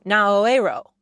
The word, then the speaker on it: Naoero: U R U, which a lot of Americans pronounced Nauru, is now Naoero, N A O E R O, to more closely match the country's native language.